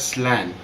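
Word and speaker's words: slán: which with the word slang which is actually pronounced as slan s-l-a-w-n and it's actually the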